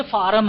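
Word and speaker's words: form: अरे बेटा ये फॉर्म नहीं, ये फार्म है, फार्म भरने कह रहे हैं।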